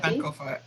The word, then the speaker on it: Sankofa: And I pay attention to anything I see with the, how do you say, a Sanofi? Sankofa, yeah. Sacrament.